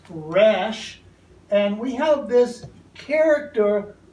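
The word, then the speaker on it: ר: letter for consideration is the r sound in hebrew pronounced rash and we have this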